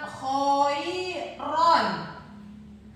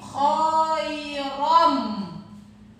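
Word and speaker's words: خَيْرًا: Nah, tanwin menghadapi huruf mim, maka cara membacanya bukan khairon, tapi bunyi an ini dirubah ke huruf yang di depannya menjadi khairom.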